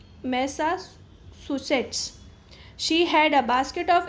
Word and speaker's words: Massachusetts: इसको प्रोनाउंस करते हैं मैसाचुसेट्स।